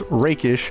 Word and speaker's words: rakish: I keep getting the pronunciation wrong thanks to you guys. It's rakish audacity.